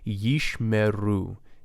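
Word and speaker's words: ישמרו: Yishmeru. Yish, silent, meru, vocal.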